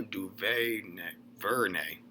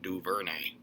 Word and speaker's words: DuVernay: 134, Ava DuVernay. I butchered that. DuVernay.